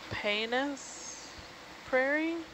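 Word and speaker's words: Paynes Prairie: Florida what I'm looking that up oh yeah Painis Prairie that's how you pronounce it preserve State Park what doesn't Florida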